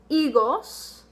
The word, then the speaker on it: higos: Our first word is, and our H is silent, higos.